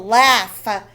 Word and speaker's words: laugh: we need to know laugh the gh makes an f sound laugh grasshopper now is